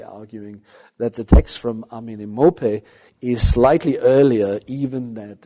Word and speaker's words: Amenemope: By the way, just this is a bit of a tongue breaker, amenemope. That's how I think in the English-speaking world most scholars pronounce the name of this famous sage from Egypt.